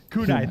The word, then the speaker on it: kunai: not that they're uh they how do you pronounce the word kunai kunai thank you and it looks like there's a